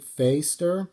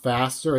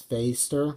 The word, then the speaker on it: Fäster: And it's actually pronounced Craig Fäster. And the reason why is because see those two dots on top of the A? It's kind of seen in some languages like German because I know a little bit of German. It's not faster, it's Fäster, how you pronounce it.